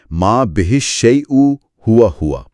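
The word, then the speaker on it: ما به الشيء هو هو: بہ الشیء ہوا ہوا۔ میں اس کے اعراب کی وضاحت کر دوں۔ اس کا درست تلفظ ہے ما بہ الشیء ہوا ہوا۔ ما بہ الشیء ہوا ہوا، واو!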